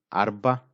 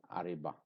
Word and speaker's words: arba: we say arba arba we don't need I or E here we we don't write we don't write so if you say it like this it is not arba it is Ariba so it is not the right word so here ra is a silent or a semi-silent sound arba arba but in